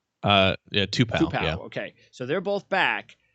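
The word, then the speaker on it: Tupou: hill's back uh and uh how do you pronounce the other kid's name tupo uh yeah two-pack okay so they're both back uh both been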